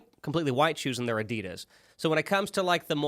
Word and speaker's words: Adidas: The folks across the pond, this drives me nuts, pronounce Adidas as Adidas, and it drives me nuts. I'm like, no. No. Yeah, why did you stress it that way?